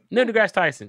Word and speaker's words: Neil deGrasse Tyson: Neil deGrasse Tyson.